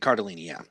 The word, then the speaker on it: Cardellini: I think you might have said it wrong. Oh yeah, I think I did. Cardellini.